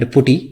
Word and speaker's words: PuTTY: I'm not sure the exact pronunciation whether it's PuTTY or PuTTY, but I call it PuTTY. Somebody recently corrected me telling me that it is PuTTY, so let's stick to it being PuTTY.